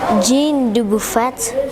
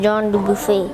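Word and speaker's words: Jean Dubuffet: It says Jean Duffet but it's actually pronounced John du buffet.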